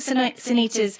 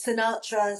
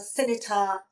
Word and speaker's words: Sinitta: teachers, even the headmistress, couldn't say my name properly. So I was Sinatra, Sinitta, Sinsurina.